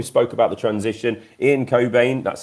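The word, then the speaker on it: Cockbain: this year we spoke about the transition Ian Cobain that's how you say it Rob not anything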